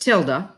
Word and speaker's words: tilde: the key is called a tilde okay it's pronounced tilde and it is this key right here it's